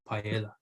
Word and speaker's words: paella: way it takes you a while to go paella yeah yeah so it's it's so it's it's